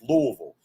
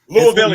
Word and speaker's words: Louisville: Obviously, you think it's Louisville. What's the correct way to pronounce your city? We always, every hardcore Louisvillian says Louisville. Louisville. You gotta say it like there's peanut butter in your mouth.